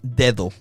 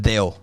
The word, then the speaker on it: dedo: So look, the word for finger is dedo. Yeah. Dedo. We would say it deo.